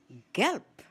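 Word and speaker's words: gelb: Yellow gelp. Gelp. The word is spelled G E L B. The ending B in a word in German is pronounced as P.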